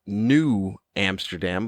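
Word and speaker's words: Nieuw Amsterdam: It's new, as in N-I-E-U-W. Like it would be pronounced New Amsterdam.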